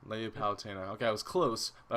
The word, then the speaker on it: Palutena: to say it for me it's a lady palutena palutena okay i was close but i wanted to